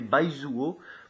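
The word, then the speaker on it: 白左: Sa translittération en alphabet latin s'écrit B-A-I-Z-U-O. C'est Baizuo.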